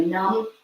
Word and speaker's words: nam: S s a t pronounced sut and then numb like comfortably numb n u n um